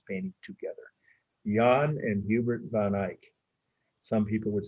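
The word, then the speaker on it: van Eyck: them dutch and that's how their names are pronounced john or john j-a-n the brother hubert h-u-b-e-r-t van ick that's two words capital v-a-n second part of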